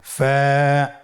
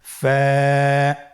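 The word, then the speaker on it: ف: হরফ আমরা দেখতে পাচ্ছি আপনারা আমার সাথে বলুন ফা কফ কাফ লাম মিম নুন ওয়াও হামজা ইয়া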